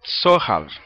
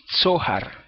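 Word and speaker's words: צֹהַר: Donde dice una claraboya, en el texto hebreo, dice zohar. ¿Ok? Zohar es Tzade He Resh. Zohar, con acento en la O, según el hebreo.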